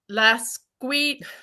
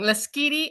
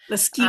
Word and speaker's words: Lasqueti: Could you please give us the correct pronunciation? It's called Lasqueti. No, I'm saying it wrong. Lasqueti Island. Lasqueti Island.